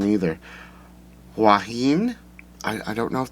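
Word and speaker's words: Huahine: she couldn't pronounce uh i'm not sure the pronunciation either juan i i don't know if that's correct h-u-a-h-i-n-e so um i'm just going to pronounce it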